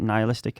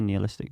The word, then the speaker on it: nihilistic: Some people pronounce it nihilistic. I would say nihilistic.